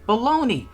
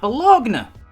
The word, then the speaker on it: Baloney: That's how you say her name, Lottie Baloney, not Bologna.